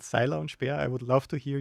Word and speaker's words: Seiler und Speer: It's called Seiler Und Speer. I would love to hear you pronounce it.